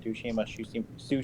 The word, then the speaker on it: Tsushima: I probably am pronouncing that wrong. Ghost of Tsushima, I don't know which one it is.